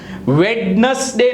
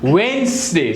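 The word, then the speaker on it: Wednesday: पछ हैंडसम नथी handsome वेडनेसडे नथी बे वस्तु साइलेंट डी भी साइलेंट ई भी साइलेंट तो वेनसडे बोला ने वेनसडे नॉट वेनसडे नॉट वेडनेसडे इट इज वेनसडे पछी सैंडविच नथी सछ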